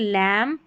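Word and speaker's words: lamb: Next है MB 32 है MB, इसको म पढ़ेंगे, लास्ट में आता है स्पेलिंग के, आखिर में आता है, म पढ़ते हैं क्योंकि बी साइलेंट है। तो यहाँ पर देखिए लैम, कॉम, बॉम, थम, यहाँ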